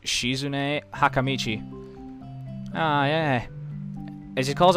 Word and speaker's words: Shizune Hakamichi: is right there she I believe it's pronounced shizune hakamichi oh yeah and she